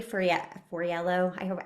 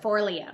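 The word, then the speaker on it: Forleo: I think it was Marie Foriello. I always screw up how I think you it's say her name. for Leo.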